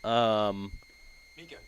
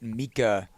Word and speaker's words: Mika: Mika. Does that mean I'm pronouncing it right? I would guess that you are pronouncing it. I heard her say it, Mika, herself, at Crown King when we checked in with her yesterday.